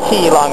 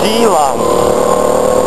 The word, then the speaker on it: Keelung: For example, If you look at a Chinese map, a lot of the cities are written with a K, and K is actually a G sound. So there's a place, you know, like, there's a place called Keelung above Taipei, but it's not Keelung, it's Geelong.